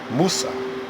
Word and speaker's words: Musa: And that someone was Moses, Musa. That's the correct pronunciation.